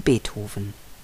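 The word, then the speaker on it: Beethoven: Johann Sebastian Bach Georg Friedrich Hendel ludwig van bethofen Karl Maria von Weber Felix Mendelsohn bartoldi Robert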